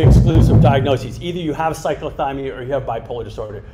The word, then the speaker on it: cyclothymia: hannah gould and um excuse me if i mispronounce this drug does cyclophobia say cyclothymia dicyclothymia occur along with bipolar what age group